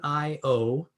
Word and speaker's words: Niobrara: yes thank you for asking that nia brera is spelled n n-i-o-b-r-a-r-a so n-i-o-b-r-a-r-a niobrara and it's the niara valley